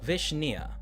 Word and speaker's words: Vishnia: Ah, oh, Vishnia. Okay, that's how you pronounce it.